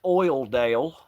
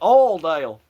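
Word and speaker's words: Oildale: Yeah, I'm sure that's pronounced Oil Dale, but Oil Dale.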